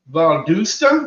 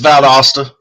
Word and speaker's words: Valdosta: and uh with cross the line paranormal from Vala Georgia did I see that first name r it's valasta Vala Georgia but you're not you're not the